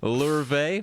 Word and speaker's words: Louvre: Louvre, as they say there. And Kaplan, he's like, oh yeah, tosses him a newspaper, shows him, hey, guess what? Louvre's hit the previous night by a well-armed commando team.